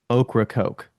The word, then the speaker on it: Ocracoke: going to the island, which is Ocracoke is the right way to say it. What island? Ocracoke Island in North Carolina.